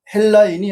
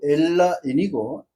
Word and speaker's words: 엘라인: 이브리인들이 쓰는 언어는 이브리어이고 그다음 헬라인이 아니고 엘라인이고 엘라인들이 쓰는 언어는 엘라어가 가 정확한 한글 표기에 맞는 단어들이 되는 것입니다.